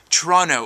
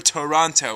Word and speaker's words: Toronto: All of the flora and fauna here in the lovely city known as Toronto, or if you're not from here, Toronto, whatever. 2 or 3 syllables, you pick.